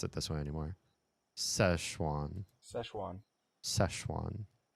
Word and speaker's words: Szechuan: I just want the American pronunciation, not the how to pronounce Szechuan in English. Oh, these people will do it. Szechuan.